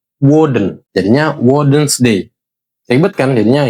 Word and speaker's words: Odin: Cuma pelafalan Odin itu bukan Odin tapi Wen jadinya Wen's dayibet kan?